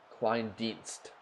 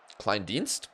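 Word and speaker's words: Kleindienst: Klandise is pronounced like Kleinst. Klein Deinst.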